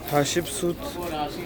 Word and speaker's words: Hatshepsut: But now we are going to the Temple of Hatshepsut. I finally pronounced it right.